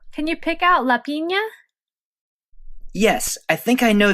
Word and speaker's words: piña: Don't forget that the N with the squiggly line above it, also called a tilde, is pronounced ñe. It's a bit longer than an N, so this word will be pronounced piña.